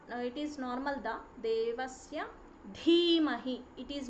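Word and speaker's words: धीमहि: Bhargo, not Ba, Bhargo Devasya Dhimahi, it is Dhimahi, Dhiyo, Dhiyo Yonah, Yonah Prachodayat.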